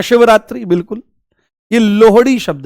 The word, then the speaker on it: लोहड़ी: लोहड़ी ठीक है लोहड़ी ये लोहड़ी है ठीक है इसका उच्चारण गलत करते हैं लोग एक ऐसी रील आ